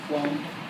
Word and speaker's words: phloem: I didn't Now, even though it's not spelled with a F, I always think of phloem flows down.